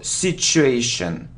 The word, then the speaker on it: situation: mortgage morgage look so I often hear c2a situation but if we look at the pronunciation the correct pronunciation it's the sound sh sh sh so situation situation so you need to say situation okay well done okay